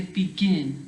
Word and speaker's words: begin: You don't say begin, you say begin. So the stress is on the last part of the word, the last syllable.